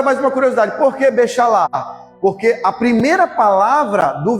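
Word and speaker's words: בשלח: Fala assim, bem gutural, né? Fala assim meio com a garganta mesmo bem puxando.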